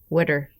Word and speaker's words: water: Yeah, if you say it like WITTUR, witter.